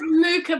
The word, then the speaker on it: Mucha: Is it Mucha, Laura? It's Mucha, but no one pronounces it right.